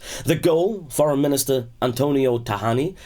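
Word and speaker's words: Tajani: goal foreign minister Antonio Tahani says I think it's pronounced tahani when there's a J right in Italian for those of you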